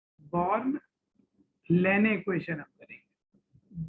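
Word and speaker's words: Landé: Born लेने equation हम करेंगे, डी इसमें साइलेंट है, लेंडे मत पढ़ लेना, बॉर्न लेने इक्वेशन।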